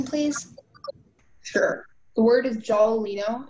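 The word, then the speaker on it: giallolino: Your word is jolalino. Can you repeat the word, please? Jolalino. Can I have all the information, please? Sure. The word is jolalino.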